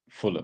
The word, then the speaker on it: Fulham: But isn't like Fulham the team? Isn't it pronounced Fulham? Everybody says Fulham. Yeah, Fulham. Yeah. You don't say like West Ham, but Fulham. It's like Fullum. Yeah. Not H-A.